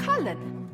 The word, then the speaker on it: Cullen: it's the only wall cullen that's colin the mage wore a